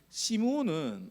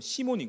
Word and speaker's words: 시몬: 시므온은 아마 이게 헬라식 발음입니다. 원래는 히브리식 발음을 보면 시몬인 거죠.